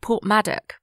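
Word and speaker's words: Porthmadog: Wales and I stayed in this place that's pronounced portmadic but it's written poor from a dog poor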